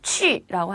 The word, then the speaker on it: 去: 근데 발음하실 때 q, u 이렇게 돼 있으니까 영어처럼 해서 추 하시거나 쿠 이런 분들 계신데요. 틀렸어요. 여기에서 중국어 발음은 취라고 하십니다.